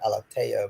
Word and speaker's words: Alathea: In Portuguese, you pronounce it Alathea, but just for the spelling there, it's a TH.